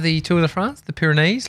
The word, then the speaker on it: Pyrenees: Pyrenees.